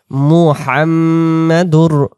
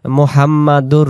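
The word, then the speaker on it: محمد: নাম লা ইলাহা ইল্লাল্লাহু মুহাম্মাদুর মুহাম্মাদুর মুহাম্মাদুর অনেকে আমরা বলি মুহাম্মাদুর বা মুহাম্মাদার বা যেভাবে বলি মনা মিম পেশ মুহাম মুহাম মিমের উপরে এখানে তাজদিদ গুনা করে পড়তে হবে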